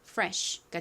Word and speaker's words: fresh: 가장 앞에 F는 소리가 납니다. 한국식으로는 프라고 표기하지만 실제 발음은 거의 쌍비에 가깝게 세게 발음이 되죠. 그리고 리 소리 나고요. e는이 단어에서에 소리로 쓰였어요. 끝에 sh는 바람 소리가 나죠. 그래서 연결하면 fresh가 됩니다. fresh fresh의 의미가 뭘까요?